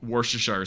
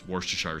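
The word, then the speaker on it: Worcestershire: I can pronounce anything. Anything? anything. Oh yeah. Then what's this called? It's a worseshire sauce. That's what that's called. It's worstire sauce. Worsher sauce.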